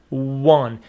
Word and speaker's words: won: And some students by mistake pronounce it won. It is not won, it is won.